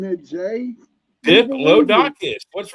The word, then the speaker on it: Diplodocus: Is it DIP or DIC? DIP. Okay. Because it sounds like you were saying DIC.